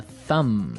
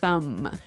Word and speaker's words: thumb: Do you say the B at the end of this word? No, I actually only pronounce the M, the Yes.